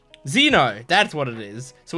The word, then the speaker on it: Xeno: starts with zed not Zed X but it's pronounced Zed uh what what what is it what's his name Zeno that's what it is so we have Zeno